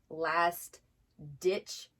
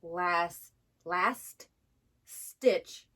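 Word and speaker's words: last-ditch: the proper pronunciation of last ditch effort i thought for 38 years it was last last stitch stitching like you're stitching something together effort i didn't know it was last ditch with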